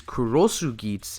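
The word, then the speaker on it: Cross Geats: instead of after and the pronunciation of cross GS in Japanese is kurosu gits cut off of bit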